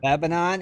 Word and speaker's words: Lebanon: that's just Lebanon man just say it right Lebanon Indiana it's 806 West Horton Road Lebanon Indiana